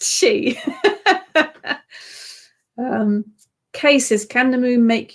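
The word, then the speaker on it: sidhe: definitely then we have the she moon pronounced s-i-d-h-e no spell s-i-d-h-e pronounced she cases can the moon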